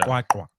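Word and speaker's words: QwaQwa: Kwakwa. Yeah. Oh, there we go. That's how you say it. Kwah. You hear like, ah.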